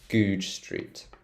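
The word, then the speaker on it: Goodge Street: It's quite a funny name, Goode Street. Goode, so a J sound at the end, and then Goode Street.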